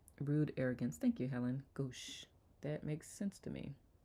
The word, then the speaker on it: gauche: Pronounce gauche. Thank you. Rude arrogance. Thank you, Helen. Gauche.